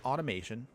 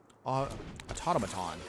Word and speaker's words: automaton: Put out the automation. Oh, automaton.